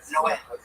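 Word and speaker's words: Noé: Like in the Bible, the Spanish translation, it's Noe is Noah, but it's pronounced Noah.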